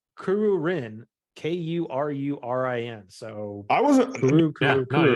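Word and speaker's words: Kururin: wear kuruku kurin I think that's how you pronounce it um no dude it's okay I can get that but then it's Kuru Rin k-u-r-u-r-i-n so I wasn't no joke yeah I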